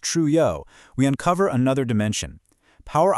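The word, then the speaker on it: Trouillot: If we apply the framework of anthropologist Michelle Ralph Truo, pronounced Truo, we uncover another dimension.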